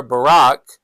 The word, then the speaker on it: Barak: And then she sent and called for Barak. And notice it doesn't have a C in it, so it's spelled differently than Barack Obama's name, but pronounced the same.